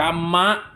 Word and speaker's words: กรรมะ: การ งาน ก็ คือ อ่าน ว่า กรรมะ นะ ครับ กรรมะ มา